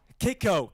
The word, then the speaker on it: Kayko: Is it KCO or Coup? KCO. KCO. KCO. There's people in the comments that are like K. So I was like, oh man, am I saying it wrong?